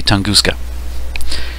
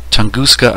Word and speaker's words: Tunguska: tunguska event of 1908 there are probably different ways to pronounce that but i'm going to say tunguska several comments on my